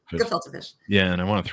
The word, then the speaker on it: gefilte: It's just a hard G. Gefilte fish.